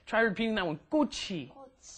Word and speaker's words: 꽃이: Make sure your pronunciation is 꽃이, right? The chi moves up in front of the e, and that's a hard 기억 on there, right? Try repeating that one. 꽃이. 꽃이.